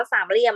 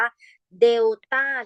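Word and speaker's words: delta: โซ่ ไฮโซ นิด นึง มัน ไม่ ได้ อ่าน ว่า สาม เหลี่ยม มัน อ่าน ว่า เดต้า ที่ แปล ว่า ผล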